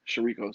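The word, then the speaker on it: chouriço: spell it it's it stupid it's spelt like it looks like chirico yeah shariko some people call it rachel ray calls it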